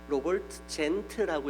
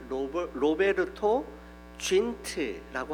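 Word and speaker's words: Robert Zünd: 로버트 젠트라고 이렇게 되어 있는데 로베르토 쥔트라고 하는 게 보다 발음에 더 정확하다라고 이야기합니다.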